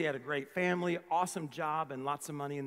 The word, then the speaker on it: Job: all right it's spelt j-o-b some people think his name is job but it's job okay he went through